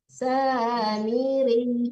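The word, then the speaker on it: السامري: Nah, nggak boleh dipanjangkan ya, Bu. Miri ya, kalau dipanjangkan tasdiknya hilang ya. Samiri ditekan ke ya langsung dilepasin ya, jangan dipanjangkan ya.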